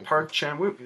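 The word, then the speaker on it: 박찬욱: was his first American Park Chan-wook. Am I saying that right? Yeah, you're saying it right, because I was about to say Chark again.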